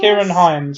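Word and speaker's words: Ciarán Hinds: Like you have, I can't remember, I never know how to pronounce his name. It's Kieran Hines? Kieran Hines, yeah.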